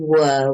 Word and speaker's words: were: And the were, you don't pronounce the R. So it's was and were, was, were, was, were, was, were, was, were.